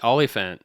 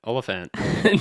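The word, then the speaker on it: Olyphant: And uh, Timothy Olifant. Olphant.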